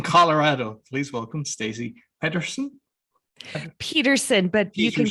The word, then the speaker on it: Pederson: please welcome stacey patterson peterson but you can call me whatever you i've been calling you so you call it peterson with a p with a d yes yes i know